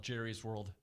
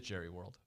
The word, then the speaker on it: Jerry World: It is Jerry World. Jerry's. No, it's Jerry World. I think the correct pronunciation is Jerry's. But it is actually trademarked as Jerry World. Oh. Like Disney World. It's not Disney's World.